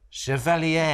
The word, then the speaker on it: Chevalier: hit film, I'm going to say this right, Chevalier. Beautiful. Thank you. It's Lucy Boynton. Beautiful pronunciation.